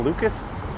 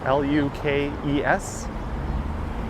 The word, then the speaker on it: Lukes: Nathan Lucas, L-U-K-E-S. You'll hear a lot of people saying Lukes, including commentators, or Pages.